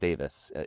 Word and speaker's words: Daviess: So even though it's pronounced Daviess, it's spelled differently.